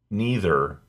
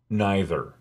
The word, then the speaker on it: neither: and a group etc there are two acceptable pronunciations for this word neither or neither in these sentences neither